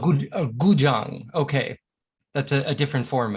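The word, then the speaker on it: 古筝: It's called a guzhang. Guzhang. Guzhang with like a j.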